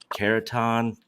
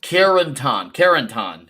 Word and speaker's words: Carentan: was called, and I don't know if I'm pronouncing this right, Caratan. I hold on. It is. Let me think here. Carentan.